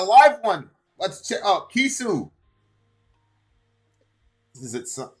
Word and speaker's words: Chisu: Pronounced Kisu, is a Finnish pop artist, songwriter, and producer.